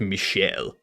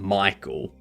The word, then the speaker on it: Michel: Which is why if you have someone from France, if you have a guy from France called Michel, you don't start calling them Michael. You keep calling them Michel.